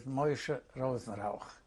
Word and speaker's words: Moshe Rosenrauch: Please say your name and spell it. My name is Moshe Rosenrauch.